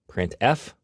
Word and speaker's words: printf: these three are the most popular they are pronounced printf putcar and puts each function is designed to